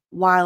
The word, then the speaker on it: while: Can you fill in for me while I'm on? So notice there, the L, because the E is silent, so technically it ends in a consonant sound.